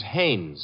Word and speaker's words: Haines: war fishing so i what did you say his name is haynes h-a-i-n-e-s ah oh haynes yeah you know him well as your fellow named heinz used to fish oh no no not heinz haynes couldn't be honest no